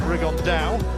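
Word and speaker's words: Rigondeaux: three weeks and his tattoos talked about fighting rigonda or as he's correctly pronounced the Spanish accent rig on down two absent Geniuses but it could also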